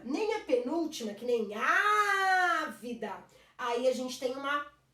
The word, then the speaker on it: ávida: E na antepenúltima, ávida, não é a última nem a penúltima, é a antepenúltima.